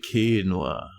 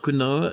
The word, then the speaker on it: quinoa: And it's pronounced quinoa. Oh, it's not quinoa. It's quinoa.